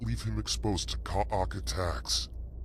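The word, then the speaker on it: Kha'ak: leave him exposed to Ka'ak attacks. Ka'ark. Okay, that's how we pronounce it.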